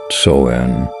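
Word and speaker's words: Samhain: had a very important festival called sa when pronounced soen this festival marked the end of Summer and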